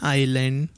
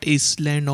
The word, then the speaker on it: island: uncle lives on an island all alone and dear students please note this is pronounced as Island it is not isand or Iceland my uncle lives on